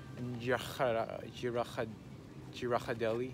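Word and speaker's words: Ghirardelli: Ours is always Girardelli. There we go, that's how you say it.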